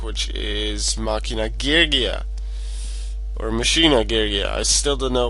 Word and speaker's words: Machina: the two it is I always called it Machina since it's similar to machine but one of the guys I follow on YouTube called him Machina so and I like that pronunciation so uh lately I've been going with makina but yeah I'm using